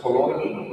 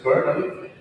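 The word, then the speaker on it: colonel: Yeah, someone who's new to this language would read the first word as colonial, as it's kernel, and the second word,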